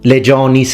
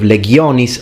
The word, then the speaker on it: legionis: kentum centum being ecclesiastical legianis instead of legionis like it should be legion is being ecclesiastical and that's because ecclesiastical